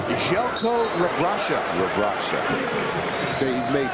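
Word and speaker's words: Željko Rebrača: That's pronounced Željko Rabraša.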